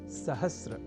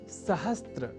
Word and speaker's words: सहस्र: करने लगे हैं, और वह शब्द है सहस्र, जिसे सहस्त्र इस रूप में न केवल लिखने की ही बल्कि बोलने की भी प्रवृत्ति या कुप्रवृत्ति बढ़ गई है।